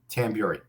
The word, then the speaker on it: Tamburri: How do you say your last name? Tamburri. I didn't know it was pronounced that way. Tamburri. Tamburri. Yeah, Tamburri. That's like Canadian. Yeah, like Tamburri.